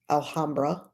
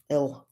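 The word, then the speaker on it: Alhambra: Alhamra. Elra. Alra. You know, I can't say it cuz the H is silent, but why I have the H there if it's silent, you know.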